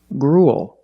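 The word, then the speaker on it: gruel: pattern and similar pronunciation grul again we see the u e l making the long oo sound followed by a dark L just like in the words pool and cool gr GRL is a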